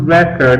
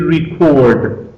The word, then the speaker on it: record: As a noun, it is pronounced record. As a verb, it is record. So watch out not to mispronounce it.